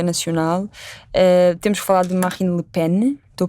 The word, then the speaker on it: Marine Le Pen: Temos que falar de Marine Le Pen. Estou a pronunciar bem? Marine Le Pen.